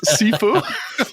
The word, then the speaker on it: Sifu: By the way, Blue, thank you for teaching me how to pronounce this. The first one is Sifu.